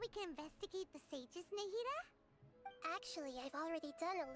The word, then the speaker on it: Nahida: So we're gonna go talk to Nahida. I keep saying her name wrong as well. I keep saying Nahida, but it's Nahida.